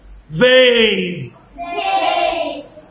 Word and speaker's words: vase: letter s بننطقها s عادي زي سنيك وكده، بس اس لو جت between two vowels بين حرفين متحركين، بص زي هنا اهو هنطقها زي. اقول هنا ايه؟ rose، vase، يبقى ايه؟